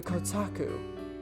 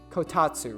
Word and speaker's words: kotatsu: Why don't you try going under the kotaku? Oh, kotatsu? Is that how the fuck do you say it? Kotatsu, right?